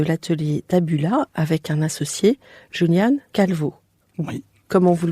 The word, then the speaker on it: Julián Calvo: Vous êtes architecte et à la tête de l'atelier Tabula avec un associé, Julián Calvo. Oui, Comment vous le prononcez à l'espagnol?